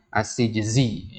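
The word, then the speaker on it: السجزي: Ini cara bacanya ya. Ya, as-Sijzi ya. As-Sijzi antum kasih harokat di situ.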